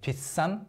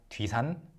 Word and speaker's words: 뒷산: 산 is mountain, but when you actually say it, people say it as 뒷산, not 뒤산, 뒤산. So it's affected by the pronunciation, right? Not 뒤산, but 뒷산.